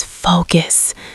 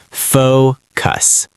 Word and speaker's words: focus: The word is focus. He wanted to disappear from the planet. That is a powerful lesson in pronunciation. Focus. Two clear syllables. Fox like go. Cuss like bus.